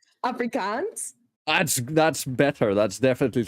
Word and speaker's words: Afrikaans: fun of me because I can't speak Africans I can't say it right Afrikaans this is my whole